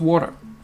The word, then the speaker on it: water: Salt water, hein, qu'on prononce comme un D ici, parce que ce fameux T est encore une fois prisonnier entre les deux voyelles.